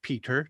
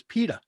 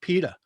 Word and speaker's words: Peter: far as I'm concerned, my first name is Pita. Pita, like bread. Like the bread, right? And I'm not even sure I pronounce the T. I probably pronounce it more like a D, like Pita.